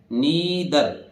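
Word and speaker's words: neither: टी एच ई आर नाधर नहीं है यह क्या है नीदर नीदर नीदर नीदर आर बोलते नहीं अंग्रेज नीदर इसी तरह य आर बहुत फेंट उच्चारण इ ठीक है और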